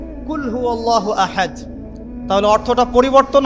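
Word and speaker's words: قل: কিন্তু আপনি যদি কফ এর মাখরাজটা ভুল করেন এবং কফ না বলে আপনি ছোট কাফ পড়েন এবং কুল না পড়ে আপনি কুল পড়েন বলেন যে কুলহু আল্লাহু আহাদ তাহলে অর্থটা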